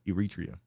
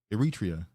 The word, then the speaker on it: Eritrea: as Somalia, Liberia, Ethiopia, Kenya, Nigeria, Sudan, and Eritrea.